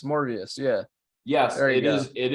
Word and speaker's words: Morbius: I guess Morpheus I don't know how to spell it right it's not on Marvel Morpheus morbius yeah yes it is it is Marvel is